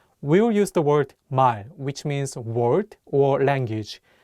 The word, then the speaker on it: 말: We'll use the word 말, which means word or language. The real consonant is at the end of the word, so it'll be pronounced as L.